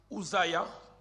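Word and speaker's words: עֻזִּיָּה: La première information, c'est que Ozias, de sa prononciation hébraïque Uzia, non, signifie l'Éternel est ma force.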